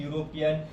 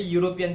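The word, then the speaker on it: European: जैसे मैंने बताया कि बहुत सारे वर्ड्स ऐसे हैं जो वॉवेल्स लेटर से स्टार्ट होते हैं, जैसे यूरोपियन देखा, यूनिट देखा, यूनिवर्सल देखा, बट उसका जो साउंड है वो कैसा होता है, कॉन्सोनेंट होता है।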